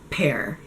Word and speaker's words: pear: PE and it's just a puff of air pear a lot of times my Arabic students have